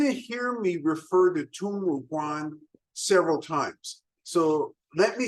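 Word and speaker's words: Tongmuguan: Now, you're going to hear me refer to Tungmuguan several times. So let me spell that for you so you can think about that. It's T-O-N-G-M-U, Tungmuguan, G-U-A-N.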